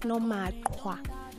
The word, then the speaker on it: Nomakwa: It's Nomakwa. The k should be heard.